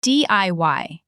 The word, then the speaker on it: DIY: Okay, let's start with the big one, DIY. It's pronounced DIY as letters.